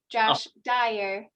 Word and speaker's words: Josh Dyer: for the interesting presentation and also apologized i mispronounced your last name at the beginning so just wanted to correct josh dyer um so we're so glad that you could